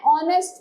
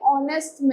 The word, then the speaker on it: honest: Hence we say an honest man. हम क्या कहते हैं? honest man. It's an honor because H is silent in these words.